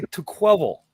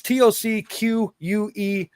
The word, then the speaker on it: Tocqueville: That was Alex de Tocqueville. I'm pretty sure I pronounced it wrong. It was Tocqueville.